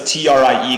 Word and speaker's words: trie: how he said because the trie comes from retrieval trees so it's still pronounced like tree but you know you